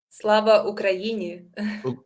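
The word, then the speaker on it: Слава Україні: and I'm learning how to pronounce it correctly, so forgive me if I don't, but Slava Ukraini. Slava Ukraini.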